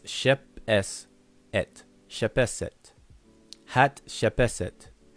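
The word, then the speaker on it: Hatshepsut: Hat shepeset. But most people pronounce it hat shep sut.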